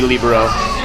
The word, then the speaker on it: libero: So I pronounce it libero. The word is Italian and it means free, and so pronunciation in Italian would be libero. So that's why I pronounce it that way.